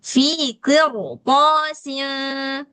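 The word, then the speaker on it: قرطاس: Nah, baca qirosin ini enggak boleh tipis, tapi gimana bacanya? Qir fi qir gitu. fi qirosin.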